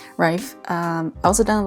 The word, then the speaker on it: Reif: done a lot of pamela rife or yeah i think that's how i pronounce it rife um i also done